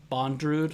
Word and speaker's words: Bondrewd: this guy's name is made in abyss bondrewd bondrewd is how you pronounce it dude i up